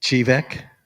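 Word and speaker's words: Chevak: How do you pronounce it? Chivek. Yeah, how did you select Chivek?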